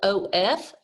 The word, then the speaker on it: of: words here you have the word of because it sounds like a u and a v but it's actually spelled o f for of we have a